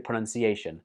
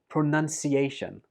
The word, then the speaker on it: pronunciation: I hear many students, and actually some native speakers too, saying this word like pronunciation. But that's wrong. The second syllable in this word is none, not noun. So it goes like this: pronunciation.